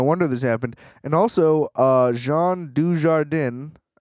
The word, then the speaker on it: Jean Dujardin: this happened and also Jean Dujardin I I kind of intentionally mispronounced that but I also was trying really hard to not say she warden because I always read it as DJ like I don't I